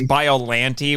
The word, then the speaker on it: Biollante: for is present and by the way I'm guessing that's the pronunciation we're agreeing on is biolante because that's what I say because what is it in the dub it's biolante which is what I said for years and me too and